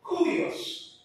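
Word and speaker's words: κύριος: u u iOS G tapi Dias tanda pernapasan bacanya kurios itu bahasa Yunani jadi enggak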